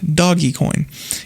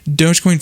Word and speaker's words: Dogecoin: into it and again it is pronounced dogecoin it is not doggy coin it's a cryptocurrency invented